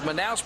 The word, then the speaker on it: Manaus: As you look at the sold-out arena here, Manaus, actually pronounced Manaus, Brazil, for Jungle Fight 2.